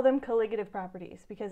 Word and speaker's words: colligative: into colligative properties so that's that word it's pronounced colligative all right so when you have a pure